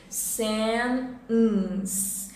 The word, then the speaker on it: sentence: Sentence. No IPA vai ter o T mais a barra indica pausa, mais o som de N.